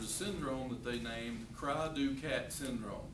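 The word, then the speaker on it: cri du chat: syndrome that they named Cry-Du-Cat syndrome. It's spelled CRI/DU/CHAT. It sounds like Cry-Du-Chat, but it's called Cry-Du-Cat syndrome.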